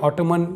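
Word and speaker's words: autumn: तो साइलेंट रहता है एम के बाद में अगर जब भी एन आएगा तो वो एन साइलेंट रहेगा एग्जांपल देखते हैं जैसे ये लिखा हुआ है ऑटम ना कि ऑटम कई लोग इसे अजीब तरह से पढ़ते हैं ऑटोमन या ऑटोमन ये दोस्तों ये है ऑटम जिसका मतलब होता है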